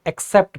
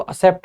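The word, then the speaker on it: accept: का साउंड देता है, तो एक्सेप्ट पढ़ते हैं। काफी सारे लोग इसको असेप्ट बोलते हैं, तो वो गलत होता है प्रोनाउंसिएशन, ठीक है।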